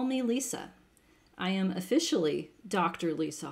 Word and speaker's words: Lisa: is just fine um in terms of spelling and pronunciation it's just regular lisa there's no lisa there's no z there's no lesser just regular old lisa the story behind the